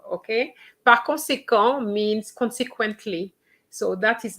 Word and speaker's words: conséquent: Okay, it is true that when it's ENT, we don't pronounce it, but that is when it is a verb, okay? Par conséquent means consequently.